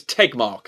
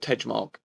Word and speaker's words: Tegmark: to pronounce max tejma it's tegmark okay okay it's tegmark not ted mark okay take mark isn't